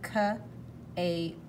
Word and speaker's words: cape: Yes, there he is with a big, okay, here's a silent E making the A say A, cape, cape.